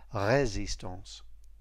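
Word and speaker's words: résistance: useful reminder about pronunciation the second letter in resistance is e acute and is stressed resistance next order or means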